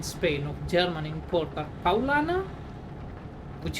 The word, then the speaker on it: Paulaner: of German import are Paulaner, which is written as, like, you would read it if you don't read it in German as Paulaner, and Franziskaner, which would